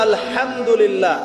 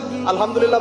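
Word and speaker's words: الحمد لله: আপনি পড়ছেন আলহামদুলিল্লাহ শব্দটা কি আলহামদুলিল্লাহ এই হায়ের মাখরাজ কোথায় কোথায়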